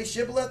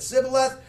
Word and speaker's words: Shibboleth: now should he said say shiblet they said sibileth for he could not now watch out says it he could not frame to pronounce it right okay has anybody noticed